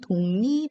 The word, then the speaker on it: 독립: 금연 방울 감으로 등입니다 대한 독립 할 때 독립은 요 독 립 이라고 써있지만 독 립 여캐 있지 않죠 읽을 때는 동리 이렇게 됩니다 심리 심리 우리 뱅이